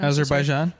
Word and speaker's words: Azerbaijan: And then poor Argentina, Australia, and Azerbaijan. I don't know how to say it. Azerbaijan?